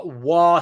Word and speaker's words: Wa: this micro State uh W State the correct correct pronunciation W state which is basically maybe